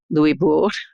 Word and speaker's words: Louisbourg: The fortress of Louisbourg did fall, Louisbourg, to try to stick to the French pronunciation, but was returned to the French.